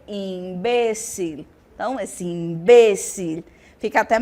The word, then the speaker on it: imbécil: então magia e Mara a palavra imbecil no espanhol eu vou ter imbécil Então esse imbécil fica